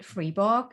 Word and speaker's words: Friborg: on social media with my name freeor as you may see it's spelled here f r i b o r g and I'm on Facebook